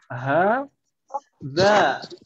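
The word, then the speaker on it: هذا: Hadza. Seperti ini. H-nya setelah H tidak ada alif. Ya atau ya? Iya. Ya. Tidak ada. Tapi dibacanya panjang tetap.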